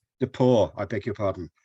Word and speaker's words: DePauw: Have I pronounced your institution's name correctly, Jeff? DePauw. DePauw, I beg your pardon.